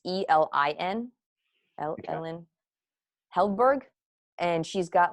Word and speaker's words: Elin: So an author I read a lot is, I want to say her name is Ellen, but it's not. It's Elin, Ellen Heldberg.